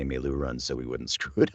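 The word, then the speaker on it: meiloorun: white board with them trying to phonetically show us how to say me lou runs so we wouldn't screw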